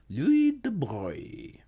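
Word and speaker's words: de Broglie: Louis De Bruyne Louis De Bruyne, French De Bruyne Louis De Bruyne Hardly anything to do with how it's said or spelled but Louis De Bruyne You were absolutely correct.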